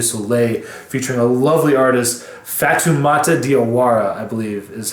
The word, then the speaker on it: Fatoumata Diawara: And there's also a track called De Soleil featuring a lovely artist, Fatoumata Diawara, I believe is how you say her name, but Fatoumata is just absolutely exquisite on this track.